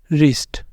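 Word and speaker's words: wrist: शुरू हो रहा है डब्लू आर से यहां पर डब्लू होगा साइलेंट ये है रंग राइट रप रिस्ट ठीक है रप रिस्ट रोट तो इन सबके अंदर क्या है डब्लू है साइलेंट डब्लू आर के साथ वर्ड शुरू हो रहा है तो डब्लू रहेगा साइलेंट उसके बाद आ जाता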